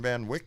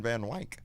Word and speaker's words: Van Wyck: Look how long it took me to go from Wick to Wyke, from Karen Van Wyck to Karen Van Wyke.